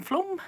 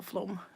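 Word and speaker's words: Flåm: So Ager Brewery, that symbol there, that is in our neighbor town of Flom. It's only 2 tunnels away, one long tunnel and one little tunnel in Flom, which is spelled F-L-A with a circle over it.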